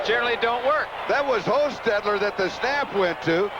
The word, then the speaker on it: Hostetler: Because Hostetler, the backup quarterback, which is the correct pronunciation of his name in case somebody wonders, we double-checked that.